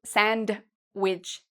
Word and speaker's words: sandwich: Also, if you like to eat sandwiches, you don't need to say sandwich, okay? We say sandwich. So the D is silent.